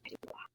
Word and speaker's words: Dubois: So I would rather go by Dubois.